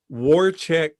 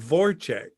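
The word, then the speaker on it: Wojciech: the Mansons recently, and she kept saying Warchek Wachowski or whatever instead of Vorchek, because his name is German, but it's spelled with a W, and she kept saying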